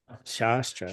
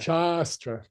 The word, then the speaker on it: shastra: Well, what what's the correct pronunciation of a classical commentary? Shastra. Shastra. Long a has two qualities. It has a it has a they call it in linguistics it has a qualitative difference uh compared to ah